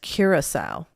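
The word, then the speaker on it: Curaçao: spelling what is it like i think it's curacao absolutely curacao that's the way i wrote it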